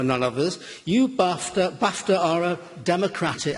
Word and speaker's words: BAFTA: You BAFTA Baft are a democratic I said I said BAFTA which rhymes with Daft.